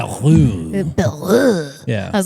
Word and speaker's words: Bayrou: And I was like, Bayrou.